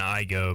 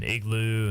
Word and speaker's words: Igoe: I mean, between that and Igoe, my name was butchered quite a bit when they called a roll. Igloo, and, you know, it